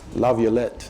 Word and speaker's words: LaViolette: Laviolette, okay.